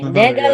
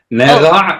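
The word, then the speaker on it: נגע: Because there's no dagesh in the gimel, and ayin should be pronounced. Okay, teach me that. Gimel with a dot inside is g. Uh-huh. With no dot, it's like kind of like the Parisian R.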